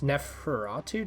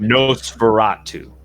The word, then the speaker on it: Nosferatu: Does Neferatu take inspiration from... Nosferatu.